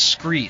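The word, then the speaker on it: Skre: And my favorite and my proven gear is Scree. Scree is spelled S-K-R-E. It's kind of a play on the word from scree rock found at the bottom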